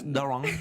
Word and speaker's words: Daron: We've been saying it wrong this whole time. Daron. It's Daron. Daron.